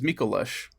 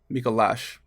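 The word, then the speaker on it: Micolash: next boss which was mikalish mikalash i've heard it pronounced both ways from different people whatever basically it's this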